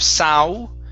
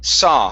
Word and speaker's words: saw: have the word saw instead of sau with an u sound at the end it's only an ah saw saw and add he